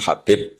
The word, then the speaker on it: Habib: yang nulis Abi Abdurrahman Habib asulami itu di harakatnya kitab itu ada yang nulis khubaib Yang benar Oh gigih yang benar itu bacanya habib habib itu Sulami itu ikut